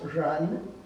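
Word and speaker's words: 仁: the natural love that everyone's born with it's pronounced run and it's a character for person and the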